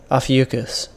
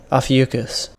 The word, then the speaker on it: Ophiuchus: 13th one, and I cannot remember how to pronounce it, so. Ophiuchus.